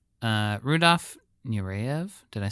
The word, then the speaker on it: Rudolph Nureyev: Uh Rudolph Nurev, did I say it right that time?